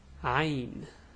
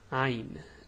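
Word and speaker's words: عين: this letter's name is ein now the pronunciation is hard the way you pronounce it is ha it's a it's like the a but it's deep from the throat well i know how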